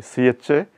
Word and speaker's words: chassis: And the strange pronunciation is because it comes from the French language. In the French language, the last S is not pronounced, especially when it is preceded by a vowel sound. So, please note that spelling, CHASSIS. It is pronounced chassis, but there is an S at the end.